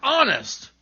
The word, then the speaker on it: honest: Other words that begin with silent H are honor, air, and honest.